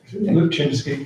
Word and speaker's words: Lipczynski: And if we can welcome Andrew Lipczynski. Have I said it right? Yeah, Lipczynski. Lipczynski.